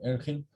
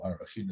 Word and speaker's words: Arachin: Mama Razal, Gabi Meya Shiloach, like there's more in Erchin, or Arachin as it really should be pronounced. And amongst the yeshivish, they always call it Erchin, but in any event, in Gemara Arachin, it says like this.